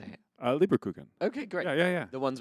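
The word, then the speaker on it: Lebkuchen: Leberkuchen.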